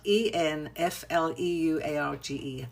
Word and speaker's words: enfleurage: technique called enfleurage, which is called e which is spelled e n f l e u r a g e, enfleurage.